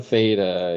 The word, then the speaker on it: theta: know this this letter here this is a Theta yes I'm going to spell that out because some people get confused with